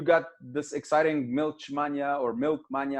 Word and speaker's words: Milchmania: So you got this exciting Milchmania or Milkmania, how do you pronounce it? Project? Milchmania.